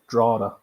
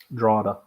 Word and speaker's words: Drogheda: It's pronounced Drada. Drada? Drada. There's a G and a H in it.